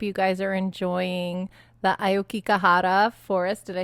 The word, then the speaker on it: Aokigahara: I hope you guys are enjoying the Aokigahara forest.